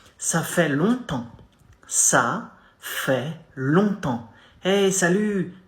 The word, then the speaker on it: longtemps: Ça fait longtemps. Ça fait, not fait, fait, longtemps. Two nasal sounds here.